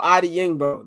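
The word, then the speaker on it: Odeyingbo: the last name Let's see we gonna use syllables sound itoo okay do ADI yingbo there we go I a mess mess the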